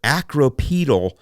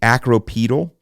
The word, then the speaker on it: acropetal: but they're using a uh a term here acropetal penetrant so the the the Triad meon the